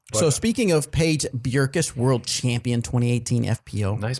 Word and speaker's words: Bjerkes: But So speaking of Paige Bjerkes, world champion 2018 FPO. nice pronunciation.